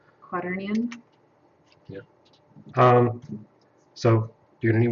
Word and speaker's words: quaternion: I just don't pronounce it correctly. Quaternion.